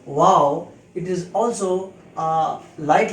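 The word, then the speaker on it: waw: this shape without any technical mark is called wow its pronunciation in english is w a w wow it is also a light letter so it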